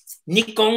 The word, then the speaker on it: Nikon: anyways um yeah um nikkong is the proper pronunciation it's a shortened form for the official name if you ever look up wiki or something it's like nippon kogaku something something just means japanese heavy industries or something like that and so